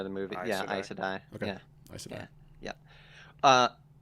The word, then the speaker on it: Aes Sedai: Is that how they That's pronounce it in the show? by the movie. Aes Yeah, Sedai. Aes Sedai.